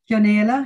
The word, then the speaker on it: Chionaolo: Chionaolo, yeah, very good. Chionaolo.